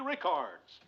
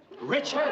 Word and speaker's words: Richards: You said Rickards! I don't get your point, Murr. Her name is Richards.